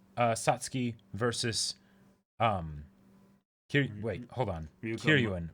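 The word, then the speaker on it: Kiryūin: But that's a particular bout in Kill la Kill of Kiryu Satsuki versus wait, hold on. Kiryuin.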